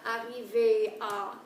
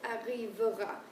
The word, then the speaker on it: arrivera: It's not arriver à, it's arrivera.